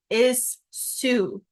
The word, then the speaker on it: issue: Sue even though these two s's together makes the sh sound so it's a little bit tricky sometimes because you want to put sh because that's how it sounds but that's actually not how it's spelled you say is Sue or we spell it is Sue like this this is like suing like I will sue you for money like that um and is that's how it's spelled even though we say issue do not put sh